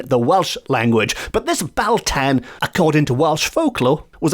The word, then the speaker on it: Beltane: like for example the Bal tan I am assuming that's how it's pronounced b-a-l-t-a-n not Beltane we'll get to that very